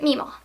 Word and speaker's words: Mima: I pronounce it Mima. There's also Mama. That's a different variety, but I have a Mima.